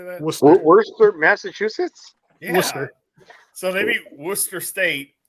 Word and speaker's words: Worcester: They're both like old British names, which is why they're pronounced way different than they're spelled.